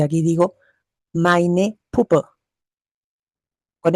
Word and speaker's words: meine: Aquí digo mein Wagen y aquí digo meine Puppe. Con E. Meine. Meine. La EI se pronuncia AI.